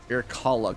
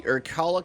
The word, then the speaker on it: Irkalla: pronounce this right, the Irkalla complex. If I'm correct on that one, cool. If not, forgive me. But it's I-R-K-A-L-L-A, so irkalla, something like that.